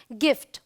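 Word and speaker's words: gift: जैसे जी के बाद देखिए आई आया है, लेकिन यहाँ पर हम इसे ज नहीं बोल रहे हैं, इसे ग बोल रहे हैं, ये है गिफ्ट।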